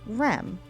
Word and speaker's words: Rem: These 2 letters together are pronounced Rem, which is the Egyptian word for fish and is represented in the last symbol.